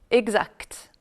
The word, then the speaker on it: exact: le elle est prononcée attention aussi aux mots aspect est distinct dans lesquels ni le sait ni le thé ne sont prononcés alors qu'on dit direct correct exact alors maintenant voici un